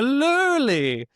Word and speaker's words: lurly: It's actually called a a lulli.